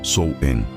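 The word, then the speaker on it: Samhain: O mais importante desses festivais era o SH, pronunciado como Sou Enen, que marcava o fim do verão e o início do inverno.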